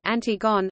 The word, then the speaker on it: Antigone: century BC in English it is often distinguished from its antecedent by being pronounced in its original French form approximately Antigone the play was first